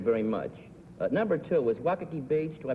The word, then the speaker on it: Waikiki: Number two is Waikiki Beach. Do I pronounce that correctly?